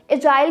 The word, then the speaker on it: AGIL: ये जो word एजिल है इसको आप एजिल भी बोल सकते हो, एजाइल भी बोल सकते हो, AGIL और इसको एगिल भी प्रोनाउंस किया जाता है।